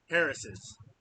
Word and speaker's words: Harris's: Harris's is how you say that.